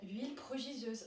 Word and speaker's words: Huile prodigieuse: Huile prodigieuse or florale.